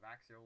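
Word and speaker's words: Växjö: Give us the pronunciations and everything. Dynamo Yetsava versus Vaxio Lakers.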